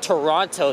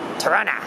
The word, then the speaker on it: Toronto: here for many years they call it Toronto they pronounce they just actually pronounced the second tea like that but I don't that's that's not the way to do it that's out the way there's always Toronto Tarana I remember when they